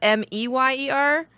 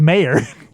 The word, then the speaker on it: Mayer: So a lot of people apparently spell it MEYER. Because it's pronounced Meyer instead of Mayor.